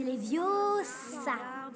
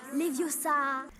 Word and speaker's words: Leviosa: Et puis d'ailleurs, tu ne sais même pas le prononcer. C'est Leviosa. Et pas Leviosa.